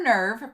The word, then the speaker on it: Nerv: It says Nerv, German for nerve, pronounced Nerv, commanded by Gendo Ikari.